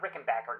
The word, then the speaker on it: Rickenbacher: You little a-holes who say Rick and Backer. Back with a composer. Back is pronounced just like it's spelled. There's no such thing as a Rickenbacher. It's a Rick and Backer.